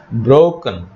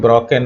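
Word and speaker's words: broken: ব্রোকেন, past participle ব্রোকেন, অনেকে ব্রকেন বলে, উচ্চারণটা ব্রোকেন নয়, ব্রোকেন।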